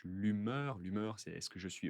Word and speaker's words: humeur: D'humeur ou d'hygiène de vie, d'humeur, attention, on ne prononce pas le H, l'humeur, c'est est-ce que je suis heureux, je ne suis pas heureux, je suis triste, comment je me sens.